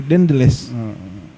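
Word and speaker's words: Daendels: Tapi ternyata bacanya bagaimana ya? Deandels. Deandels.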